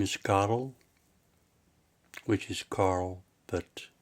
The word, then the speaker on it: Karel: Hello, my name is Karel, which is Carl, but in Flemish it's pronounced Karel.